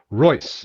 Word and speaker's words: Reuss: I get it right Roy the EU is an German oi like in Freud okay so it sounds just like the Royce and Rolls-Royce just spelled differently the Roy okay good